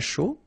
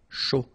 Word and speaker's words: chaud: Un chocolat chaud. Remember, C-H, chaud. Chocolat. And then final T not pronounced. Chaud. Final D not pronounced.